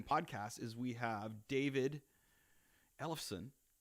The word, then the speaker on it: Ellefson: the Escalator Main podcast is we have David Ellefson. Right? Did I pronounce that correctly?